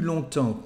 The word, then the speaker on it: longtemps: And as you can see, we don't pronounce the letter S here. Plus longtemps que, longer than.